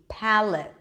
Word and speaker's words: palate: palate pallid that's easy it's a piece ound pact pal as in cat and L sound schwa and the teeth palate look it's a light L